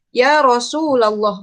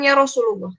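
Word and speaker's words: يا رسولَ الله: Jadi dibacanya ya abdarahman Ini juga ada contoh Ya Rasulallah bukan Ya Rasulullah Ya abdallah ya ummatal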